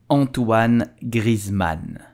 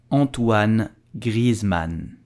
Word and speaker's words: Antoine Griezmann: So how do we pronounce his name? We will say Antoine Griezmann. Antoine Griezmann. Antoine Griezmann.